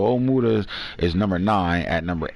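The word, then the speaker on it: Ojemudia: and you got michael ojamuta is on hero oh my mom said his name omura she said the j is silent so omuda is number nine at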